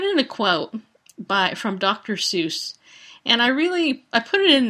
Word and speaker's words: Seuss: It's actually, his name is truly pronounced Seuss, S-O-I-U-S, is really how it's pronounced that way, but everybody always pronounces it wrong.